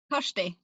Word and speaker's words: Kyrsty: Kyrsty.